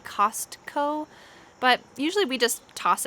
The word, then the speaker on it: Costco: subway subway ikea ikea costco costco notice that t is often silent sometimes we might say costco but usually we just